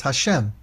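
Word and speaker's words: השם: Or pronounced Hashem, teshuv Hashem.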